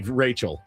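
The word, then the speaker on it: Rachelle: Very clearly Rachel. Pronounced Rachel. It says It It screams Rashelle to me.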